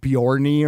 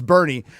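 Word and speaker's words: Boerne: I used to call Well, because Bernie is spelled B O R N E, so I called it Bjornney or something like that. It's Bernie has made the county Yeah, the Californians, DJ.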